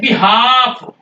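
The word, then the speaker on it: behalf: य ए के बाद यह बिहाव अब बिहाव में ए के बाद ल आया है नहीं बोलना है बिल्कुल नहीं बोलना है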